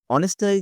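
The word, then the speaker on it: honest: অনেস্ট কি হবে? অনেস্ট দেখ এইচ আছে কিন্তু উচ্চারণ ও এর মতন হচ্ছে।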